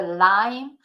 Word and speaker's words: lime: so yeah the lime see in engl is the lime not Li the lime and in